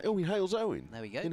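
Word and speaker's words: Halesowen: How do I pronounce this place name? In Hales Owen. There we go. In Hales Owen.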